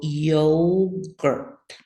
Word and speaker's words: yogurt: So yogurt. I think it's easy to hear the schwa sound there at the end.